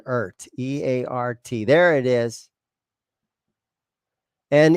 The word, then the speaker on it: Eart: But if I show you the back here, it says Eart, E-A-R, and then the T is in red. And so I'm going to go ahead and pronounce this guitar brand as an Eart, E-A-R-T.